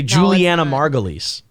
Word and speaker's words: Julianna Margulies: you say it oh julianna margulies oh no yeah i think it's julie you say juliana margulies is what you say uh i didn't see